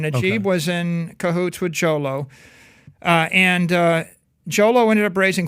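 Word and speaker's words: Jho Low: Who was Jolo, not J-Lo.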